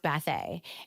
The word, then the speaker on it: Bathe: It's a very long story, but it's pronounced Bathe. And so sometimes you get to the point where they call you all kinds of things, and it's just Bathe.